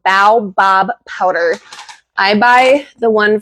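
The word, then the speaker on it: baobab: Yes, the the powder that I use is called Bow Bob powder. I buy the one from Bulk Supplements. It's spelled B A O B A B Fruit Powder.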